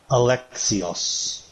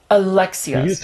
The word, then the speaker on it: Alexios: How do I say his name? Alexios. Alexios. Like Alex. Alexios.